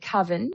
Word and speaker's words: coven: Well, um, well, I would pronounce it coven, but we can call it coven if you like.